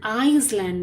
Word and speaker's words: island: Julia lives on a small farm on an island near Scotland. The letter S is Iceland is also pronounced, not pronounced, na? Iceland. Island बोलते हैं, Iceland नहीं बोलते. It is island.